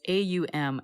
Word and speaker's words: AUM: okay so but it's AUM as when you are chanting ohm the a is you drop your jaw and then the U is pronounced ooh double O's and then M you